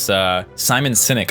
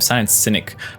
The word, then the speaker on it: Simon Sinek: And it's so interesting because as that was happening, I started remembering this Simon Sinek, I think is the way you pronounce his name. Simon Sinek.